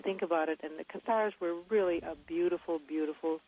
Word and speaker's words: Cathars: it now the catheter is that how you pronounce the qatar stars cathars yes yeah i really enjoyed reading catharsis is